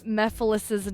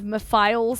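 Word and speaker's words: Mephiles: And for those who pointed out that I had been saying Mephilis's name incorrectly, I still feel like I'm saying it wrong. Instead of Meiles, it's Mephilis.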